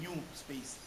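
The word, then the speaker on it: NUSpace: institutional repository is is is spelled Nu space but is pronounced as new space it was derived from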